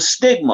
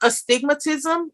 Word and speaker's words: astigmatism: So what is a stigma? I heard somebody the other day said that their son had a stigma. I think am I pronouncing it right? Well, it's called astigmatism.